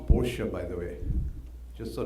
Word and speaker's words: Porsche: why does it matter so this word is pronounced Porsche by the way just so that you know